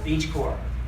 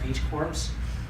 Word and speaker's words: BeachCorps: It's occasionally pronounced Beach Corps, but we're moving beyond that so people kind of understand that this is Beach Corps like the Peace Corps.